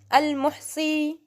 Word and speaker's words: al-Muhsi: अल-मुहसी, pronounce this name with me, al-muhsi, okay?